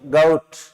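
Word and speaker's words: goat: ये देखो इसका प्रोनाउंसिएशन गॉट नहीं होता, गाउट। स्कैपगॉट, औ की ध्वनि आती है।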